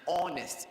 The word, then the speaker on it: honest: No, it is an honest, because you have the O sound beginning that name.